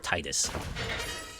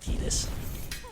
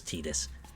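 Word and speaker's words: Tidus: Is it pronounced Tetus or Titus? I believe you actually do pronounce it Tetus. Like they came out since since Final Fantasy 10 and said no, his name is Tetus.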